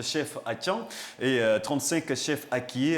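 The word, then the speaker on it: Akyé: Avant, on disait Atié, mais on dit la bonne expression ou la bonne prononciation, c'est Akié, qui s'écrit donc A-K-Y-E à la fin.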